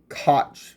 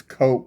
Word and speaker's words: KOC: A lot of people pronounce it cootch marketing, but it's coke.